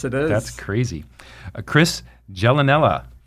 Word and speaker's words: Gialanella: Chris Gialanella.